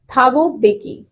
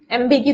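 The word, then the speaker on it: Thabo Mbeki: थाबो बेकी, सही कह रही हूँ मैं, एम बेकी तो नहीं बोलेंगे।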